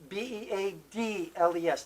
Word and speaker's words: Beadles: Beadles, not like the musical group Right. Beatles. Exactly. Even though pronunciation is yeah, about the same, pretty right? much the same.